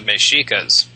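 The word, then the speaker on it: Mexica: then you have the mikas Mex icas the X in this part of the world is pronounced sh apparently when the Spanish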